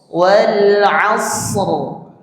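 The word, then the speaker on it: العصر: Asr wal asr. Asr. Nah, pastikan huruf shadnya itu ya mengalir. Suaranya pastikan mengalir bukan memantul. Asah itu memantul namanya.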